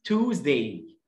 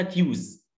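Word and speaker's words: Tuesday: جدا، ماندي سهل جدا، التلات اسم توزداي، توز، مفيش حاجه اسمها تيوز، توزداي، اليو اي بتعمل لونج او، او اللونج يو، الصوت الثاني، احنا عارفين خدنا في كورس الفونكس ان اللونج يو بصوتين، او ويو، ده الصوت الثاني، تيوز، غلط؟ توزداي، توزداي.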